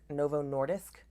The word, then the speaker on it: Novo Nordisk: lost drug who's called I think it's pronounced Novo Nordic Nordisk Novo Nordisk maybe that's how you pronounce it that's the company who